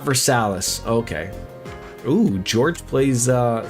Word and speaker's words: Versailles: They have Versailus, Vers Versilus, Ohio, which correctly pronounced should sound like Versailles, but in Ohio it's Versalis.